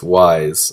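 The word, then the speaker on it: Weiss: i'd like to apologize i've been getting the white chick's name wrong her name is uh wise so i apologize to those who are just like yeah you're getting it wrong who's heiress yeah okay it's wise i think w uh e i s s hopefully i'm pronouncing that right um uh but yeah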